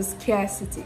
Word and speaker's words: scarcity: R sound after this the next vowel sound is the diphthong air say it like you're saying a and ah together so scare City scare City so scarcity scarcity right that way